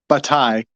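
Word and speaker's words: Bataille: Frenchy but this guy batai there's a silent l in there um he has uh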